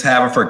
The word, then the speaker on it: Haverford: pronouncing this. What's the name? That's all right. It's Haverford College.